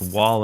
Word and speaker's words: Wale: oh it's Wally Thomas his name is pronounced Wale and he's a rapper